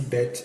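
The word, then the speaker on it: בית: So this is bet, but anytime you see bet and it doesn't have the daggers here, like as you see here, this one you pronounce it as a V sound, like V, but this one is bet, B.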